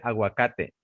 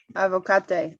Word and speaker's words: aguacate: Se dice aguacate. Avocate. Aguacate. Sí, agua, like water.